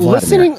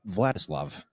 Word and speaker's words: Vladislav: He thinks it's Vladimir Nemesnikov. It's Vladislav. Vladislav.